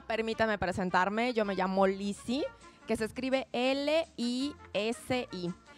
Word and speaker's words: Lisi: Yo me llamo Lizzie, que se escribe L-I-S-I.